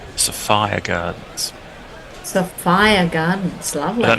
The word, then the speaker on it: Sophia Gardens: Uh, Mudley has reminded everybody pronunciation. Sofia Gardens. Not Sophia Gardens. Safire Gardens.